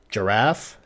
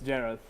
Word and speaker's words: Jerath: live um welcome everybody I'm here with Reggie giraffe giraffe how do how do I pronounce it Reggie giraffe well it sounds like giraffe but it's jarth j okay sorry about that uh he is